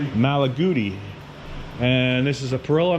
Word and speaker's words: Malaguti: don't know what this red how do you pronounce that magali malagi malaguti and this is a pill next to with another pill.